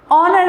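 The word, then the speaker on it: honour: एन ऑनर ऑनर में हमारा H silent होता है और साउंड आता है ऑनर।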